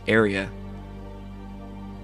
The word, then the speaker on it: Arya: It looks like people in the chat are correcting my pronunciation of Arya. They're saying it's Arya.